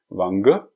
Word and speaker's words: Wange: Set von der Marke Wange bzw wie ich bis jetzt gelernt habe heißt diese Marke original wird wie ausgesprochen lange also ich hoffe ihr